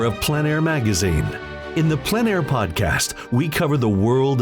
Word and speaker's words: plein air: Called plein air, the French coined the term, which means open air or outdoors. The French pronounce it plein air. Others say plein air.